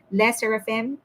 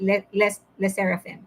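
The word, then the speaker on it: LE SSERAFIM: She's actually my bias in Le Seraphim, the Seraphim. I always mispronounce it. Le Seraphim.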